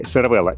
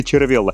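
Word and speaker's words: Cervélo: Новый аэрогравиник от канадской компании CVella. И да, да, я уже знаю, вы пишите в комментариях, из культурных пишет правильно читается Cervellла.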